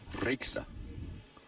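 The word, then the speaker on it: Rieksta: Nice shot by Jennifer spelled R I E K S T A. She says you roll your R. Ra.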